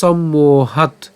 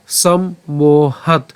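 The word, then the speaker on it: সম্মোহাৎ: মোহ ঠিক আছে সম্মোহ এরপর একই রকম ভাবে সম্মোহাত সম্মোহাত এরপর স্মৃতি স্মৃতি বিভ্রম স্মৃতি বিভ্রম অথবা আমরা এভাবে উচ্চারণ করতে পারি সম্মত এখানে খন্ডত আমরা দন্তসকে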